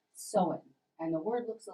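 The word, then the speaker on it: Samhain: to the ancient celtic festival that was called sowen and the word looks a little bit different than that but it is pronounced so in and the celtics lived in present-day ireland uh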